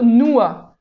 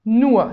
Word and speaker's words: nur: français mais c'est plutôt noa noa c'est presqu'un a en fait à la fin alors le nous en